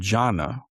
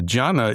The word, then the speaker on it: jhana: And Chan is a mispronunciation of what's called jhana. And the jhana is the states of concentration that the Buddha taught. There are levels to it. We can talk about it. So the Chinese folks mispronounced jhana and called it Chan. And then centuries later, the Japanese folks mispronounced Chan and called it Zen.